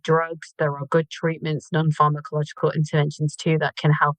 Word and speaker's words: non-pharmacological: Uh when you mentioned non-pharma- How do you pronounce that word? Yeah, non-pharmacological.